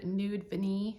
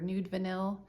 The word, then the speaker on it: Nude Vanille: Anyway, this is Tom Ford Nude Vanille or Nude Vanille. I've heard it pronounced both ways. I think it's Nude Vanille though.